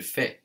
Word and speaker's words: fais: Je ne le fais pas.